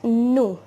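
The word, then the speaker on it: nous: have written below now n o u will be pronounced as nu right and our next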